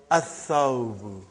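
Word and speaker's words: الثوب: So, brother, whenever there is a sun letter, you will not pronounce lam.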